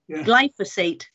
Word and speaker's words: glyphosate: you with regard to the gly if I pronounce it correctly gly glyphosate gly I glyphosate glyphosate that's it okay um we are reducing its